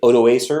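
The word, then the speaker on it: Odoacer: okay 476 there's a barbarian guy named i think i'm trying to pronounce that as correctly as possible we usually say odo acer or auto autoacre in english and previously what happened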